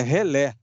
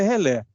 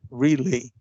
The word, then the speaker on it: relé: né De qualquer maneira a pronúncia correta é relé porque a pronúncia em francês é relé caso contrário nós usaremos